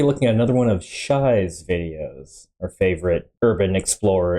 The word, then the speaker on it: Shiey: going to be looking at another one of Shai's videos our favorite Urban Explorer and adventurer thanks for pointing out in the comments it's pronounced Shai not sh specifically a stealth mission to an